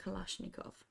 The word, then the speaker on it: Kalashnikov: um yeah he was like yeah it's called Kalashnikov okay okay got it thank you um no